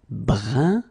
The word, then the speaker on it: brun: Then another example, brun, brun, okay, fin, brun, fin. So you write it differently, but then you pronounce it like the first one. It's un, un, okay?